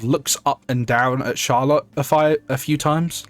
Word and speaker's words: Charlotte: Like I like Charlotte Charlott. I don't remember how to say it. It's Charlotte, but like there's a French spin you have to put on it.